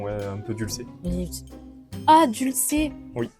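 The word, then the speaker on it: Dulcey: Ah, dulcé. Oui, je croyais que ça se prononcé doucher.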